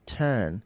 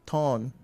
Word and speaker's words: turn: all of them then the word is turn to turn turn. When you were telling telling telling us to turn to this page in the Bible, it sound like thorn t.